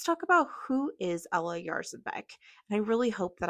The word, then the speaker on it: Jarzabek: Um so, please give me a little bit of grace if I'm still not getting it right, but my understanding is that it's Ella Yarzh embek.